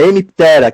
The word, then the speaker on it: Hemiptera: Tem a Hemiptera. É sempre jogar a sílaba tônica lá mais pro finalzinho. A Hemiptera, que são as cigarras, percevejos, pulgões e as colchonilhas.